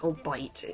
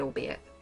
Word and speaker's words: albeit: you know albeit poorly i always seem to pronounce it it's all bite it's supposed to be albeit so pico de mon